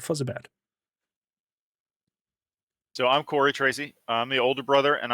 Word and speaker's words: Trese: My dear Vikings, I welcome you to a DevTALK with the wonderful Is it Tracy Brothers or is it Tressett Brothers? To pronounce it correctly. Tracy. Tracy. Tracy Brothers, like that.